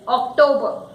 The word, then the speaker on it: October: It is October.